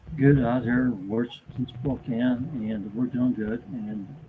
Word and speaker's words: Spokane: i've only been to spokane once and that's when i flew out well we still see sport can or whatever you see spokane not spooked and all that stuff you know people mispronounce it but whatever um yeah